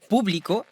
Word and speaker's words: público: Publico, avec accentuation sur le U, signifie public, comme dans El público aplaudió entusiasmado.